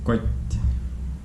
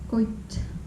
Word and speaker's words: koit: Next one is quite. Koit.